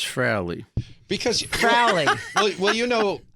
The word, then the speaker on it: Frehley: for over 40 years, we hear your name pronounced two different ways by people. Well, there's actually three. Oh, what's the third? There's Frehley, and then there's Frehley, and then there's Frehley. Right. But it's Frehley.